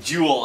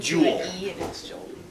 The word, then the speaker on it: joule: Joule, as in. Yeah, it's not that guy. That's how it's spelled. Not jewel.